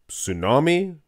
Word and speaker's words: tsunami: also another show the tsunami to Tsunami I think that's a silent T letters should not be silenced it's not right but yeah the tsunami